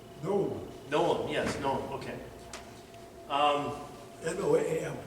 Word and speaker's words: Noam: Noam.